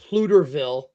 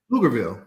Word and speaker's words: Pflugerville: Plutoville. Did I say it right? Flugerville.